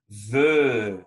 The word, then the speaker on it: veut: verbe vouloir il ne veut on ne prononce pas v ux andy veux c'est qu'on faire un os un euro et on va prononcer un et mais très grave e il ne veut